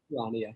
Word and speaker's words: Charania: Is it Shams Charania? Do you know how to pronounce his last name? Charania, yep.